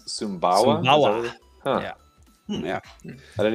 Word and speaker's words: Sumbawa: How do you pronounce Sumbawa? Sumbawa.